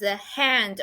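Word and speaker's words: 旱: The lower part looks like a man using his hand or hat or something else to shelter itself from the sun.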